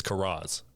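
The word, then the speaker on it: Karras: stepfather's last name, and I refuse to accept Caris as the proper pronunciation of that name. Even when they're saying it, even I think when he says it in one point in the movie and he says Caris, I'm like, "It's Kuras.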